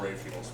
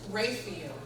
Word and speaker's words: Raphael: So you've got a couple of different places you can get signed copies of Raphael's Men. That's awesome. Everybody give Joe a round of applause. And I mispronounced, it's Raphael, not Raphael.